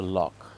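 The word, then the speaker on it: loch: Get the Lannon family outing with the lock behind the I gotta say it right, the lock.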